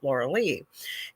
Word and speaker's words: Lorilei: restaurant was called Lorilei, but it was spelled the same way as my name is spelled, but I say it Lorilei.